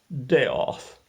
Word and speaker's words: Death: my name is death looks like death but it's pronounced deoth well there i was